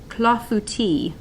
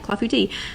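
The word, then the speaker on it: clafoutis: is French it is cloth booty cloth booty so I'm not saying it right clafouti and I'll tell you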